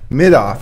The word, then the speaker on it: Middaugh: Middaugh, okay.